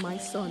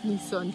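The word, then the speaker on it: Mỹ Sơn: And it's so, not called my son, it's called me son.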